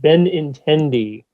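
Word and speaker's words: Benintendi: deal um they acquired andrew benatendi sometimes i have to say it in my mind first before i can you know pronounce it ben intendee uh from the boston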